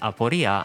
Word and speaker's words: Aporia: Her codename is pronounced Aporia, and it refers to impassibility, difficulty, impossibility, uncertainty, doubt, anxiety, or a puzzle, among other things.